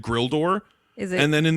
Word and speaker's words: Gwildor: notes because it fucking sounded like everybody said Grildor. Is it? And then in the credits, it was GW. Gwildor?